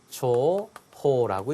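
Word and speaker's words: 重宝: 귀중한 보물에서 초호라고 읽습니다.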